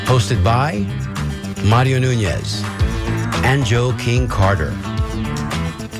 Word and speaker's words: Joe King Carter: And the way we say it, it you have to you have to pronounce it that way because otherwise it sounds like you're saying joking Carter. And this joke and this Joe King Carter doesn't joke around.